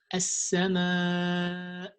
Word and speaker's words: السماء: You don't end the sound of hamza, so you have to say it like as-sama, and that's it.